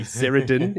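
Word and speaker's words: Cerandin: I want to pronounce her name as Sarandon, as in Susan Sarandon. It could be Seradin if you want, but I'm going to go with Sarandon, the boar horse trainer.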